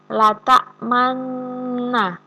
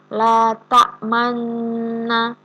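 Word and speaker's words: لَا تَأْمَنَّا: La ta'manna. Jadi ada memajukan mulutnya ke depan pada lafadz na gitu. La ta'manna gitu. Jadi dimajukan ke depan.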